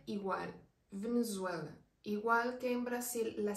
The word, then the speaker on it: Brasil: Aquí se le menciona como Brasil. La Z y se le pronuncia muy fuerte.